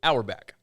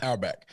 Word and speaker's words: Auerbach: There is an athletic writer named Nicole Auerbach. I think that's how you pronounce her last name? Auerbach. Yeah. Auerbach.